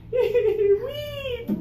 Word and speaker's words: weep: to this one everybody weep High tongue for that one so feel the difference